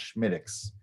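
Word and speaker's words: Smithwick's: it's it's it's written Schmidt Wix but it's pronounced schmidtix and um it's just it's just good you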